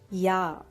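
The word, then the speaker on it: ja: no so yes is ya the letter j is pronounced as year so this is ya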